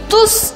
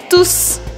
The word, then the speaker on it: tous: Nesta fase, você vai entender a diferença entre tu, T-O-U-T, e tous, T-O-U-S. É importante você saber que em alguns casos eu pronuncio o S no final, e em outros não.